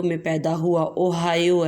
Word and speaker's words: Ohio: اگست 1871 کو ریاست اوہایو میں پیدا ہوا۔ اوہایو ہے، ہائیو نہیں اس کو پڑھنا، اوہایو۔ اس کے سپیلنگ ہوتے ہیں OHIO، اوہایو میں پیدا ہوا۔